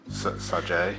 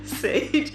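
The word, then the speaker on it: Saje: And then he runs the parent company and then the girl, Sage, spelled with a J. Like S-A-J-E. J-E. Sajay. Sage. I'm pretty sure it's Sage.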